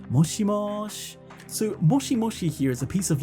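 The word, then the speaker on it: もしもし: clearly the same sound moshimoshi but here aerith actually says moshimosh so the she just kind of turns into a shh right that kind of sound you'll often notice this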